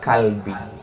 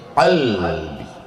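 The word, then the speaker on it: قلبي: Ya muqallibal qulub, sabbit kalbi. Sabbit, tambatkanlah. Kalbi, anjingku. Ala dinik, dalam agamamu. Anjingnya masuk surga, orangnya masuk neraka. Yang betul itu pakai qaf. Ya muqallibal qulub, sabbit qalbi. Bismillahirrahmanirrahim.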